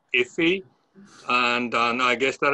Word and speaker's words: IFI: for future initiatives um ifi the only way you can pronounce it is iffy and and i guess